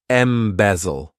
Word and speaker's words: embezzle: one embezzle to embezzle this verb has three syllables and the stress is on that second syllable M bezel what it means is